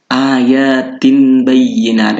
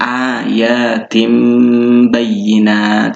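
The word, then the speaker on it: آيَاتٍ بَيِّنَاتٍ: Kemudian yang tanwin kasroh di sini ayatin bayyinat. Ini kan tin bayyinat. Kalau kita tidak tahu hukumnya, tapi kalau sudah tahu hukumnya, maka di sini bukan tin bayyinat tapi tim. Jadi berubah ke ba. Jadi cara bacanya adalah dimasukkan dengan cara mengganti huruf ba-nya ini menjadi suara min. Jadi ayatim bayyinat, seperti itu.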